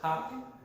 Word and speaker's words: Paak: However we're pronouncing this last shit. Paak. Like Tupac.